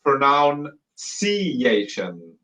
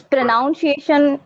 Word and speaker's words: pronunciation: But what you were saying wrong is this the C sound. So it should be Okay. ciation. Ciation. Ciation. Uh-huh. Ciation. Exactly. Yeah. You were saying pronoun.